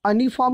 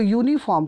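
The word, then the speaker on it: uniform: गौर करो यहाँ पे यू का उच्चारण अनिफॉर्म नहीं कह सकते, इसको यूनिफॉर्म कहते हैं।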